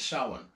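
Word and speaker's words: Samhain: uh the the king of them all is sa sa is spelled samhan but it's pronounced sa anyway the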